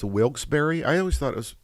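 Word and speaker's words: Wilkes-Barre: find the dolls after searching SE so it's pronounced wilbury I always thought it was why did I thought it was pronounced wilk's bar several stores or maybe that's some maybe that's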